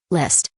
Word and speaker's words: List: Come on, repeat after me, List. Li. SZT? That's right, that's how you say it, List Flame.